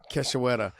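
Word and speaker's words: Cachoeira: Priscilla Keshawara.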